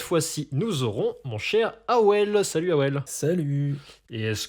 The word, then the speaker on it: Avel: Qui s'appelle Awel. A-V-E-L. Attention, le V se prononce comme un W.